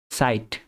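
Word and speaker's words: Zeit: ইশবে জাইট সাইট। এটা আমরা হচ্ছে যে ছ এর মত উচ্চারণ করব। ছাতার ছ।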